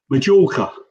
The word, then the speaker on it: Mallorca: And the other one is a track called Mallorca, or as Johnny sort of pronounces it, Majorca.